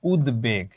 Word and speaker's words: উদ্বেগ: উদ্বেগ। এটার উচ্চারণে তুমি বফলার উচ্চারণটা পাবা। এই দেখো উদ্বেগ, এখানে যেমন হচ্ছে উচ্চারণটা তেমনই হয়।